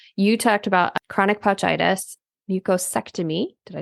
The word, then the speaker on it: mucosectomy: But you talked about chronic pouchitis, mucosectomy.